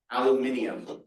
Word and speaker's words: aluminium: Luminon, aluminium, which actually does add a whole syllable in there. Aluminium is the British way or the Australian way of saying luminos.